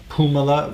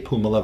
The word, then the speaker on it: Puumala: So I found in this August visit, lungs had the Colorado tick fever virus, California encephalitis virus, Pumala virus, if I pronounce that properly, P-U-U-M-A-L-A, Pumala virus.